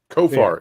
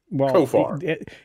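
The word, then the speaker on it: Khofar: don't care kof um kofar it's goar but with a sound at the beginning kofar you know what at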